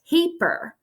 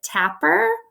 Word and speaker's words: tapir: here is called a tapir and she actually pronounced it tapper which is incorrect it's tape like tape sticky stuff earth tape Earl it's